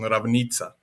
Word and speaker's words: Ravnica: So Ravnica would be pronounced in Croatian Ravnica.